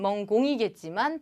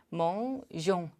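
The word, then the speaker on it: mangeons: 그래서 멍시의 동사 그대로 바꿔주면 멍공이겠지만 발음을 위해 멍종, 을을 추가해 준다.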